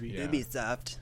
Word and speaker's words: Ubisoft: see new Ubisoft games Ubisoft however you pronounce it it is UB UB it is UB Ubisoft um yeah PlayStation blockcast